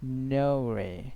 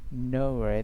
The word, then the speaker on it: Norway: Norway. Norway. The R will not be pronounced after a long vowel sound.